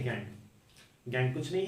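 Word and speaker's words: gangue: और वो है ये, इसका प्रोनाउंसिएशन है गैंग। इसे गॉज या फिर गैंज मत पढ़ना, इसको कहते हैं गैंग।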